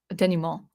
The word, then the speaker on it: denouement: And then also the kind of the denouement, like the denouement, that's how you say it.